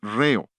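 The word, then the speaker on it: ῥέω: Es la palabra griega reo. Rh e o. La H es el acento en griego, por eso acentuamos la primera sílaba de la palabra ritmo.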